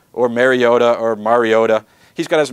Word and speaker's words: Mariota: a freshman in West Lunt rard freshman Marcus Mariot or Mariota or Mariota he's got as many pronunciations for that name as orgon has uniform